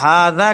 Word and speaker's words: هذا: تو حاجہ نہیں کہیں گے ہذا کہیں گے.